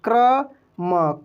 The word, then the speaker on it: कर्म: जैसे क्र, देखिए क्र म, क्रम। यहाँ म आराम से हम लोग बोलेंगे, लेकिन क्रम। अगर वहीं यहाँ पे रहता कर्म, देखिए कर्म, तो कर्म कैसे पढ़ते?